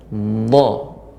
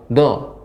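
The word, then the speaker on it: ظ: terus nanti diperbaiki ya, pengucapan huruf dha ya, dha ya. Jadi karena tepi lidah mengenai gigi geraham, maka dia lebih berat pengucapannya dha. Tidak langsung do, enggak. Dha. Ya, tertahan Pak Ustadz. Ya, sebelumnya menekan, bukan tertahan sebenarnya. Ya hampir seperti seperti tertahan, tapi dia ditekan dha.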